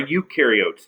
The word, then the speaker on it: eukaryotes: archaea then there are eukaryotes you rhymes with do they do have membrane-bound